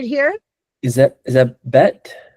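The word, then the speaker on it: בּ: Is that Is that bet? That's vet. But now we're going to put the ball on it so it makes it what?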